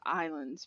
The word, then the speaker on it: Ylands: almost daily on why I know it's pronounced islands for the game but it's why lands net and what I'd